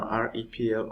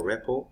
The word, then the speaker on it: REPL: That I just showed you now, REPL or REPL as some people pronounce it, okay?